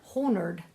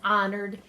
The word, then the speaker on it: honored: vocabulary word is honored now the H is silent it's not whole nerd looks like it doesn't it but it's honored and something that is honored is treated with special